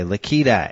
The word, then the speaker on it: Lakita: well I love your name by the way lakita am I saying it correctly you are that